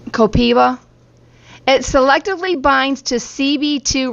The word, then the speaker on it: copaiba: It says it's pronounced Copiba. Copiva.